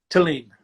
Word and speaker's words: Thelin: It's Swedish, so it's like that's why Uh-huh. the Swedes make it with the Thelin, but they can't pronounce Hmm. the H.